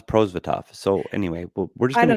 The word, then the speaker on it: Prosvetov: about pronunciation it's been we've been saying product now it's prozvitov so anyway we're just